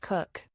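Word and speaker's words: Coke: he introduced himself as David kooch pronounced cook I learned much later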